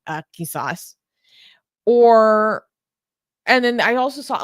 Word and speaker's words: qisas: concept in Islam called, I can't pronounce it right because I can't do the sound in the back of my throat. Qisas.